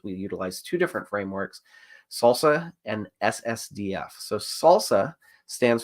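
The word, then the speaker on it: SLSA: in reports the the salsa practices I think you pronounce the the abbreviation yes Salsa Salsa so when we looked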